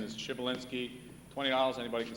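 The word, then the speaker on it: Przybylinski: His last name is Shibalinski. $20, anybody can spell it.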